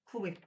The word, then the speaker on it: CHLW: a female's name, and that name's Chloe, but it's not spelled like Chloe, it's CHLW, Chloe.